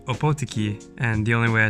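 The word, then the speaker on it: Ōpōtiki: I think opotiki that's where we're going it's pronounced opotiki and the only way I know that is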